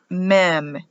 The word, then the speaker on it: Mem: letter for water is meme m for water cover clean or wipe out it's pronounced mem for the letter m in hebrew which stands for water psalm 119 can be